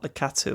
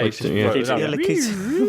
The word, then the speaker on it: Lakitu: From Mario Kart, Lakatu or whatever his name is. Well, how do you say Lakitu. that? Yeah. Lakitu.